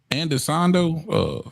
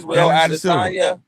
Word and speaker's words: Adesanya: Andesando? No, he said it right. Adesanya.